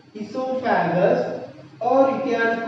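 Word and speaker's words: oesophagus: Second part of digestive system, that is esophagus. O is silent, students, not esophagus. Esophagus, or you can call food pipe.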